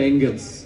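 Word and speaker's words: Engels: দারুন বই লিখে গেছেন উনার নামের বানান দেখলে মনে হয় ফেরেশতা জাতীয় কিছু উচ্চারণটা এঙ্গেলস the origin of family একটু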